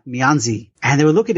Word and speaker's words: Mianzi: So I heard someone speak it, and it's not pronounced Mianzi. It's pronounced like Mianz or something like that.